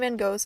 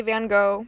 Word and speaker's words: van Gogh: personally knew him and yes I do say van Gogh because I'm American and we don't pronounce it properly out of all the